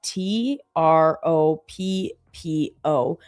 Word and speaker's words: troppo: So like, for example, there's a word in Italian and it's TROPPO and it means too much.